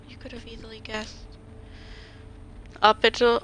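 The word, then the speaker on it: hôpital: Hospital, oh, it's hospital, not hospital. That's how they say it. Hospital St. Louis, please. Hospital, I still pronounce hospital, but the S is silent.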